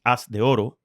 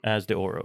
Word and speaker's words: As de Oro: it's called as in in Spanish it's ass De Oro but in English if you're reading this it just looks like as de Oro yeah as the aura is how you would say it so and that's the